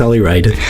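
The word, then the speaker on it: Ollie Wride: Yeah, it's Ollie Ride.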